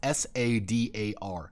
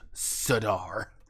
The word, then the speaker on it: Sadar: __ ] to it it's s-a-d-a-r sadar that's all how it's spelled not s-a-i-d-a-r siddar foreign people have been spelling it like what like weird no just one r sadar you mean Sahara like